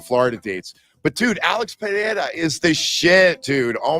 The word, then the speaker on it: Pereira: And that's how you pronounce that word, Pereira, not Pereira. You got to roll the Pereira. Got to get that tongue rolling.